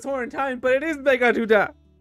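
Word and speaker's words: Meghaduta: I thought I was pronouncing it wrong this whole time, but it is Megaduda. It's such a weird name, though. Megaduda.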